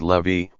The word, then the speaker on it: Levi: cook they divorced when Levi pronounced Levy was young and he